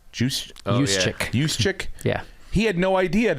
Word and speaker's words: Juszczyk: Juszczyk? Juszczyk.